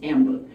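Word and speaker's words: timbre: for tone color is tamber it's french word so it's t i m b r e pronounced tamber so Tom is tamber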